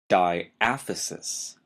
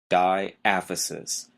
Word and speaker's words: diaphysis: the first term is diaphysis d a p y s i s diaphysis notice the stress is on the second syllable it really doesn't sound